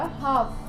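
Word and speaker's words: half: अब आप देखोगे यहाँ पे जब हम इसको प्रोनाउंस करेंगे तो ये बनेगा हमारा पाम। देन जो अगला है वो बनेगा हमारा हाफ।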